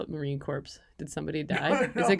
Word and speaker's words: Marine Corps: I've recently learned it's pronounced Marine Corps. I'm from Canada and uh I thought it was corpse as in like dead bodies.